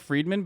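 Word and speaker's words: Fridman: that is true um pronouns like friedman but it's spelled like this okay he's a russian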